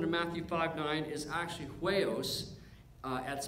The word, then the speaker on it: huios: Now, the Greek word for children, we've looked at this word before, that Greek word for children in Matthew 5:9 is actually huios, that's spelled H-U-I-O-S, which means son.